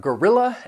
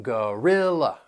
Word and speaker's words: gorilla: Then we have gorilla and gorilla. These words have three syllables that that first and third syllable you'll hear that schwa sound and the stress is on the second syllable. gorilla.